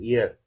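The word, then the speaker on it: heir: इसे हियर तो हम पढ़ते हैं लेकिन इसका भी एच साइलेंट होता है। इयर इस तरह से प्रोनाउंस किया जाता है।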